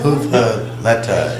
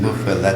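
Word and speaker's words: muffuletta: Muffalata is the way Lisa told me to pronounce it in Italian. What do you call it? Well, in New Orleans, muffalata, but in Italian, muffaletta.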